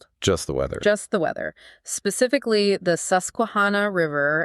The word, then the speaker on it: Susquehanna: Specifically, the Susuana River. And let's try to get the pronunciation right for you. The Suscuana at Hover Grace, Maryland.